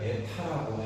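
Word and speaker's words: η: 자, 문제가 경사 효율을 에타라고 하면 요걸 그리스인데 에타라고 읽어 뭐처럼 생긴 놈 기호야? N처럼 읽지. 그래서 그리스로 이걸 에타라고 해.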